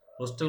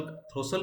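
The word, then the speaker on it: throstle: द थ्रोस्टल sings, थ्रोस्टल, थ्रोसल, थ्रोसल होगा, T silent रहेगा यहाँ पे।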